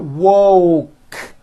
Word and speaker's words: woke: woke and won't correctly so here's what you do to say the word woke first say wo with the W sound at the beginning and at the end and then you just add the k sound C wo C like that put it together and you've got woke woke I just woke